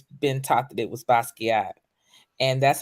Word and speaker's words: Basquiat: a form of French you don't pronounce the T you know or the end so a lot of people say basket but is is basquier